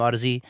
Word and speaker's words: Audeze: i'm not sure if it's odyssey or audi's i'm not sure that one i mean i had chris graham on the show and he he has a sponsorship with them and i think he pronounced them odyssey but i'll have to